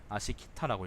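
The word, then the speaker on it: 葦北: 위북이라는 것은 아시키타라고 읽습니다.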